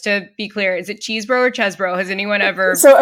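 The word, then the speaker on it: Chesebro: has anyone so according according to the Washington Post and uh air mail it is pronounced chesboro but his nickname in college or law school I'm not sure which was the cheese so you would be justified in thinking it was cheeseboro okay he's also from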